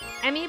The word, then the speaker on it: Emmy: Emmy, but pronounced like meme. Meme?